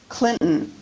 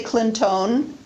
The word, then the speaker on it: Clinton: right and hillary clinton she spells her name c l i n t o n but in fact she does not say clinton i do not say brin tone i pronounce my last name britton and she pronounces her last name how does she say it that's an example of syllabic n so the answer to